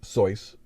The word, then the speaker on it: Seuss: though i do have two bits of information uh dr seuss pronounced at his name soyuz but he gave up